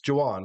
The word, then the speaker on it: Juwan: So, it's Juwan. We did say it correctly.